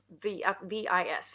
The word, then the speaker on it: Vis: V-I-S, it's called. V. I'm not sure how to pronounce it. I think the S is silent.